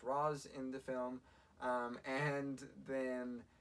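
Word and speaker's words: Ra's: taken by Richelle ghoul it's pronounced Rose in the film and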